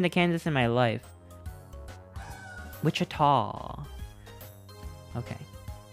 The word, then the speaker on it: Wichita: you uh how do you say this Wichita Wichita Wichita 316 is Wichita did you just know this you just know this offhand I have never been to Kansas in my life Wichita okay it's right next to Wichita damn I